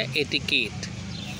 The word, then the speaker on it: etiquette: क्वेट है लेकिन पढ़ेंगे क्या? एटिकेट, ETIQUETTE।